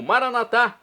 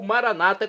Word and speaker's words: Maranatá: E agora eu clamo Maranatá, do dialeto de Jesus, o aramaico, ou maranata, como dizem nossos irmãos separados das comunidades evangélicas ou protestantes. Não importa a pronúncia, o significado é o mesmo.